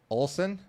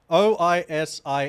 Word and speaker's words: Oisin: Olsen? Okambi? It's not Olsen, it's an I. Oisin.